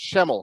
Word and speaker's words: Schemmel: Lorna Conrad and we have Ryan uh it's shemel correct is that how you pronounce it correct okay so I want to